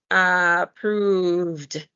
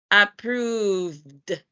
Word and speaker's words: approved: Therefore, to pronounce it, you need to omit the E and pronounce the D. So it's going to sound like this. Approved, approved.